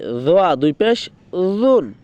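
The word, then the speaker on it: ظ: জটার উচ্চারণ কোথা থেকে কোথায় হবে? আপনার জিব্বার আগা সামনের দুই দাঁতের আগার দিকে লাগিয়ে বলতে হবে দোয়া দোয়া।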